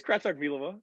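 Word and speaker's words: Kratochvílová: It's Kratochvilova.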